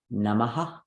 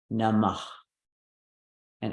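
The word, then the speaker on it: namaḥ: So this could be pronounced namah, namah. And all it has is a on the end, namah. Sometimes the A will repeat and it'll sound like namaha. So the difference, namah, namaha.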